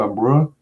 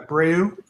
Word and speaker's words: Abreu: So this feature tier is it pronounced Marcio Ambreu? Yeah, Abreu. Ambreu commission. You can say Abreu or Abreu.